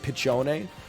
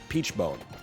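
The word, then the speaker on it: Peachone: one less weapon spot it's pronounced pichone no it's pronounced Peach bone like the Animal Collective song bone face are you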